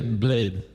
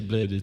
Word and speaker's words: Blady: I say Blade, but you can say Blady too.